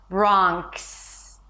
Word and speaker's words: Bronx: Bronx. Bronx. The s consonant sound, right? Not in the spelling. Bronx. Don't add any vowels.